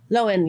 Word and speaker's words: Lowen: Loen. Yeah. Yeah. Loen. Like a lion. Not spelled like a lion, but Loen.